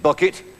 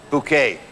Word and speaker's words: Bucket: he played the wonderful mrs. bucket pronounced bouquet will you please welcome